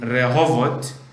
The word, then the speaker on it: Rehovot: The Israeli people pronounce the R in Rehovot like the French do, like Paris instead of Paris.